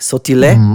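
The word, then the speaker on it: Sottile: Anthony Sautil you know it's it's of Italian descent like this last name. So sautil is how you actually pronounce it.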